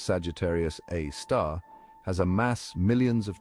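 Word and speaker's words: Sagittarius A*: black hole known as Sagittarius A asterisk pronounced Sagittarius A star has a mass millions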